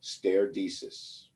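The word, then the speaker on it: stare decisis: do with court cases the term is pronounced steredesis it's latin and what it means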